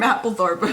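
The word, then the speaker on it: Mapplethorpe: I forget how to pronounce his name. Yeah, I was right. Robert Mappthorp.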